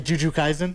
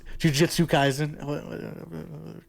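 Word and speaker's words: Jujutsu Kaisen: This isn't actually I say Juju Kaizen. That's not It's Jujitsu Kaizen.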